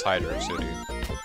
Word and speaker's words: Hydrocity: So, it is pronounced Hydro City, and not Hydrocity, like some might, some more of the, we'll say ignorant-minded might have suggested.